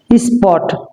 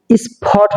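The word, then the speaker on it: spot: স্পট। এটা হবে সপট হবে না।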